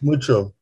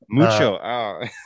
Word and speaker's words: Mucho: i pronounce it correctly is it muko is that how you say it or is it mako it's mucho mucho yeah all right um